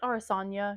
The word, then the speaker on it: Araucania: But this one I think is pronounced Arasania. Araucania, Arasanya. I think it's Arasanya yarns, and it's the Hosco colors.